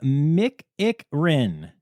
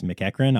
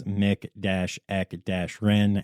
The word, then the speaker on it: McEachran: Reed, Jacob Zinn, Anna Mick-Ick-Rin. Okay, so it's spelled differently, and she sent me a pronunciation, and it's McEachran, obviously, but she explained it as Mick-Eck-Rin, and we like to have fun in this section.